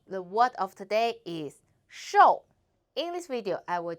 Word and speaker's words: 瘦: hello I'm the word of today is show in this video I will teach you how to pronounce it how to write it and how